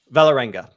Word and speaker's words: Vålerenga: Give me the pronunciation so I don't screw it up on the recap screen. Vålerenga? Vålerenga.